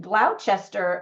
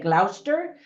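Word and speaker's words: Gloucester: film the movie was filmed in glou England and well that's how Americans say it I think in England they say Glouster England and also in Croatia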